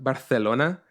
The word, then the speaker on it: Barcelona: he says Barcelona because it's not pronounced Barcelona it's pronounced Barcelona and I just [